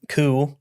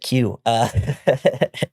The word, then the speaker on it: coup: In 1601, he joined a failed coup, Joined a failed coup. Keep wanting to pronounce it Q.